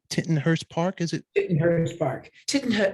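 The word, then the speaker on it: Tittenhurst Park: it pronounced T titon Hurst Park is it tit Hurst Park titon it's actually pronounced titon Hurst Park in Asco yes I I got a fanboy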